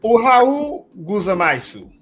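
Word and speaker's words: おはようございます: Because there is the pronunciation of it. Ohayu Gozaima.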